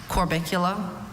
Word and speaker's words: Corbicula: Corbicula. Corbicula. Corbicula. That's the only pronunciation, right? That's correct.